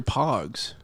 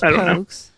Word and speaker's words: Pogue: Could it be, is it pronounced Pogues or Pogs? It might be Pogues. It was Pogues. It's Pogue.